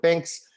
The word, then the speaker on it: Binks: I mean, I'm so glad that at least Binks rhymes with drinks because then this is made now for a second career, I guess.